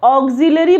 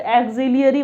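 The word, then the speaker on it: auxiliary: ठीक है, इसको ऑक्सिलरी वर्ब भी पढ़ते हैं कुछ लोग, बट एक्सिलियरी verb is the correct pronunciation.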